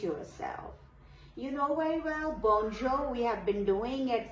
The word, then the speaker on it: bonjour: You know very well bonjour. We have been doing it for long. Bonjo R sound will not be pronounced here.